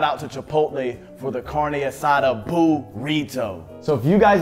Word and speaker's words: carne asada: got some assades today carne asada carne asada okay you're saying it right now in a big shout out to chipotle for the karna side up why you keep putting an s in there bro stop it pronounce it